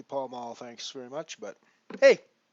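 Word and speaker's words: Pall Mall: not an American uh I'm pretty sure it's not pel Mel pretty sure it's supposed to be pal M thanks very much but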